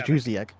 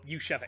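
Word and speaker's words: Juszczyk: Yushevik. Is it Jusiek? It is. I thought it was Jusiek. Nope, Yushevik.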